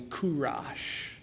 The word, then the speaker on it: Cyrus: Also, the pronunciation might also be Kurash.